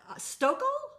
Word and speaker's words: Stokel: So up next we have Stokel. Yeah. Did I pronounce it right? Yeah. Okay, great. Depends on what part of the country you're in. Long story. Stokel.